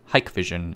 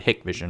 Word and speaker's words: Hikvision: a chinese state-owned company the name is pronounced hikvision in the u.s but i've also heard hick vision abroad though doing so might